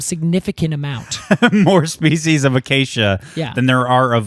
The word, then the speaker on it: Acacia: word for thorn and now we pronounce it as Acacia when it back then I think because they did hard C's would have been Acacia okay so um Acacia